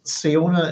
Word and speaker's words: Siona: Um, and that Siona is pronounced. So the SI in Irish is like sh.